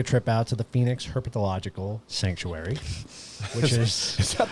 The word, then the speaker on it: herpetological: So next Saturday, we're going to take a trip out to the Phoenix Herpetological Sanctuary, which is Is that the I didn't put enough into Herbological.